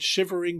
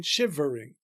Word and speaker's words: shivering: there a possible variation if we pronounce the one additional unstressed syllable in shivering. But even that line may be intended to be regular if we take the E in shivering to be elided to shivering.